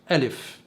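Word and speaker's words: א: قلت ان اللغة العبرية مرتبة ترتيب ابجد هوس حطي كلم سعفص قرشت، وده معناه ان اول حرف في اللغة هو حرف الف.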